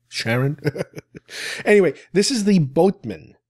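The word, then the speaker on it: Charon: on the line it's cheran I think that's how it's pronounced Sharon Sharon Karen not Karen Sharon anyway this is the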